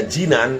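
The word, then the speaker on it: جنان: Jadi kalau dibacanya jannan itu jamak taksir daripada jannah. Kalau dibaca jinan itu artinya hati. Jadi bahasa Arab itu cara membaca beda saja sedikit. Jannan sama jinan sudah beda lain.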